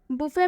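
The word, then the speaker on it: buffet: और एग्जांपल देखिए बुफे बुफे में लास्ट में टी आ रहा है जो कि रूल से बिल्कुल अलग है लेकिन इसमें हम टी का उच्चारण नहीं कर रहे क्योंकि यह भी एक्सेप्शन में है बुफे हम हिंदी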